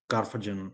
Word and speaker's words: Karfagen: Is it Is that It's a sound like Carthage.